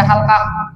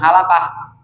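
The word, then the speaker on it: حلقة: Wala muhalqatin itu sakinaton, lam pada halqah. Jadi bacanya bukan halaqah, mufrad bang.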